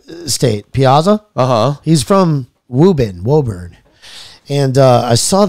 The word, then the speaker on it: Woburn: this is actually interesting wubin dude I know how to pronounce it wubin it's you know it's it's spelled Woburn if anybody's from up